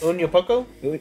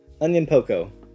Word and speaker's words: Onyankopon: Onyankopon? Yeah, it's something like that. It's kind of like onion plus like poco. Onyankopon.